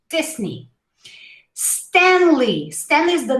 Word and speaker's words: Disney: mouse oh my gosh we say this knee all right this knee disney stanley stanley is the